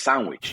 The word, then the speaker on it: Sanguich: we all know that right but when you pronounce it with our translating like us us as Spanish-speaking citizens reading a word it's sandwich yeah I love it and so it's like